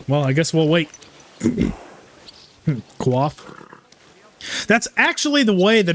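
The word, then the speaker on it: coif: I guess we'll wait qua that's actually the way that it's pronounced like it's a I think it originates as a French word and that is the actual pronunciation of it is qua and a lot of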